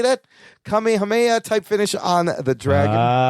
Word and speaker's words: Kamehameha: Kamehameha type finish on the dragon.